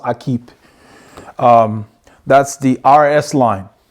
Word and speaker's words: Equipe: believe is a French word it's called It's pronounced I keep um that's the RS line so the Aqib RS spring fall bib shorts S9 is what